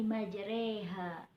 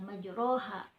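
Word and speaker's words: مجراها: roknya itu ya roknya Bukan dibaca majroha tapi karena ini riwayat hafsh Jadi dibacanya dalam hukum bacaan imalah yaitu bismillah imajeri hangat ya kata kuncinya sate sore majreha jelasnya Hai yang kedua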